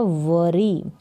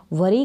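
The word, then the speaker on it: worry: वरी क्या है वरी वरी का मतलब होता है चिंता करना इसको वोरी नहीं पढ़ेंगे वरी व डब्लू ओ दोनों का साथ में उच्चारण लेंगे तो भी व हो जाएगा तो डू नॉट वरी यानी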